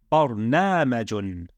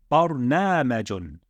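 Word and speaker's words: برنامج: So how would we pronounce this word? It would be bar na majun. Bar na majun. Okay? Bar na majun. Bar na majun.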